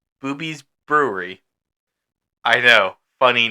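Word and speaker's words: Bube's: So if you like your Pennsylvania ghosts, probably don't know about this one, but in Lancaster, there's a brewery called Booby's Brewery.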